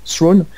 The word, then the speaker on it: Thrawn: Donc, par exemple, il y a un des personnages emblématiques qui est l'amiral Thrawn, ouais, je crois que c'est comme ça qu'on prononce, Thrawn, qui est un super